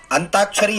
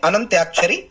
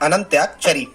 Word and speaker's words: अनंत्याक्षरी: फिर student second जो अगली स्पेलिंग है, ये अंताक्षरी यदि आपको लिखा आता है तो स्टूडेंट सही आप इसको बोलना प्रारंभ करें। ये सही जो स्पेलिंग्स या सही जो वर्तनी होती है इसे अनंत्याक्षरी बोला जाता है। क्या बोला जाता है? अनंत्याक्षरी।